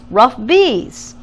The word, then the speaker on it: RUFBs: could call our group The rufbs pronounced rough bees for rise up fight back get it what do